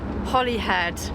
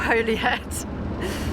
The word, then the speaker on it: Holyhead: Okay, we're just coming on to Holly Island or Holy Island, but I have looked it up and you pronounce Holly head. Holly head, not Holy Head.